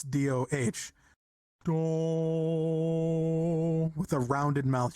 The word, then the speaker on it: do: It's do as in like DOH, like do. It's not do. It's not DOW or like cookie dough, right? It's DOH.